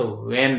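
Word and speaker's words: vein: है ना न में इंजेक्शन दिया है यानी भन में सुई दिया है यानी कहने का मतलब नस में सुई दी गई है अर्थात वेन में है ना तो वेन को भन बोल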